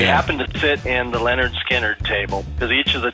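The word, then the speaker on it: Lynyrd Skynyrd: of them said who's leonard steiner i thought oh that's appropriate they have they have an album that says pronounced leonard skinner i remember actually seeing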